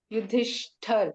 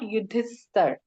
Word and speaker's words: Yudhishthir: Now, when we say S in Yudhishthir, in second line, there is a dot. Right? So, pronunciation becomes like Sh. Yudhishthir, not Yudhisthar.